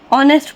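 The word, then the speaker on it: honest: silent हो जाता है ऑनेस्ट हम कभी भी नेस्ट नहीं पढ़ते हमेशा ने सॉरी ऑनेस्ट पढ़ते हैं ऑनेस्ट जिसका मीनिंग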